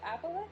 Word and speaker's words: aboleth: Is it the aboleth?